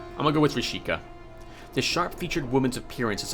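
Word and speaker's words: Vrischika: I'm going to leave the V silent here and call her Risheka. Rishika?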